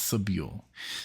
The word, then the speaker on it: Sobule: subu right is it is it subu well it's not saal because that's that's what she said she doesn't care what how you pronounce it and then she does well it's subu so Joel subu is tell